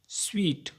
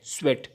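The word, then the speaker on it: sweat: को कहते हैं मीटा एक है स्वेट एस डब्लू ई ए टी इसमें सिर्फ ई की जगह ए है स्वेट इसका प्रोनंसिएशन भी स्वीट से डिफरेंट है लेकिन बाज लोगों को ये पता नहीं है और वो स्वेट को भी स्वीट कहते हैं जो कि पसीने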